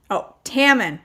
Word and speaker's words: Tommen: Okay, Tammen. Rhymes with salmon.